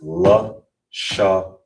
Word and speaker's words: Lashawan: So how you pronounce it is L shaan. Lan.